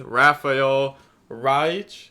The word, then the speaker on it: Rafael Reich: Hello guys, the DB Grinder here, back at it again with another video, and this time we have a coaching session with Rafael Reich.